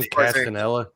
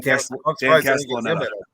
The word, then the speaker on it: Dan Castellaneta: Dan Castanella. Yeah, Dan Castellaneta.